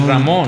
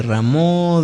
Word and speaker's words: Rameau: De Rameau, ¿no? Sí, que trae, pero es música de Bach, de Rameau, de Couperin, ¿no?